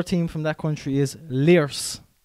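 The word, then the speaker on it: Lierse: The other team from that country is Liers. L-I-E-R-S-E.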